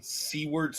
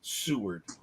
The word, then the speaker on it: Seward: new yorker tourist and c word as in sea words folly no it's pronounced seward okay all right i got it there is